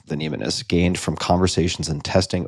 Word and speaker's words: mnemonist: It's called The Mind of a Mnemonist, I think is how it's pronounced, like mnemonic device, Mnemonist.